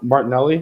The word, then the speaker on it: Martinelli: But again, with the soccer, like we have with Martinelli, did I say it right? Martinelli?